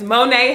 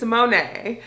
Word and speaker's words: Monae: back to my channel my name is Monae hit spelled like Mona but it's Monae and you just came